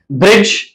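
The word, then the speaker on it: bridge: है वो साइलेंट है डी अब डी का जो कॉमिनेशन है जो पैटर्न है वो ये है कि जब डी और जी इकट्ठे आ जाए तो इसमें डी जो होगा वो नॉर्मली साइलेंट होगा ब्रिज ब्रिज में आप देख सकते हैं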